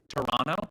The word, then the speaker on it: Toronto: I am officially in Toronto, which I have learned to pronounce Toronto. You don't pronounce the second T.